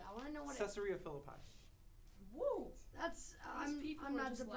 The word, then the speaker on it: Caesarea Philippi: Caesarea Philippi.